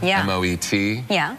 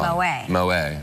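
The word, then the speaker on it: Moët: was specific the the title is called You're pronouncing uh Mo the champagne you know m o e t people say Moet oh it's wrong mo mo you're pronouncing it wrong and then he goes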